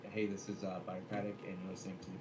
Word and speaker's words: Birocratic: so I just need to put on the record that it is in fact pronounced Birocratic, and I will send you my merch that says it's pronounced Birocratic as a as a token of gratitude.